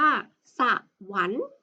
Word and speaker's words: สวรรค์: จะ ได้ คำ ว่า สวรรค์ มี ข้อ ควาย เป็น ตัว การันต์ นะ เรา จึง ไม่ อ่าน ออก เสียง ข้อ ควาย ข้าม นี้ นะ คะ